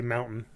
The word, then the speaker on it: mountain: very mountainous region, but, we don't say mountain. We say mountain. We pronounce it without a T, because that's just the dumb way that we do it.